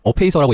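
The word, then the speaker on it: Apacer: 거고요.이 AP 뭐 써리는 어페이서라고 얘기를 하던데 아파서 아니고요. 아파서 아니고 어페이서 저는 그 메인보드 제조사도 A수스라고 많이 해서 A서라고 읽는데 어페이서 제품이 이게 메모리 전시는 에이서고요.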